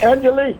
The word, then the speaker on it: Angelique: Angelique. Am I pronouncing your name right?